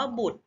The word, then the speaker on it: บุตร: ความ ต่อ ไป ค่ะ คำ ว่า บุตร ก็ เช่น กัน นะ คะ ไม่ ออก เสียง รอ แต่ ออก เสียง แต่ ร่วม กัน กับ ตอเต่า นะ คะ เป็น เสียง เด็ก เป็น ตัว สะกด ค่ะ ต่อ ไป คำ ว่า